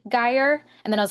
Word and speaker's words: Geier: So my first question to you, Megan, is your name is Megan Guyire, correct? I pronounced that right.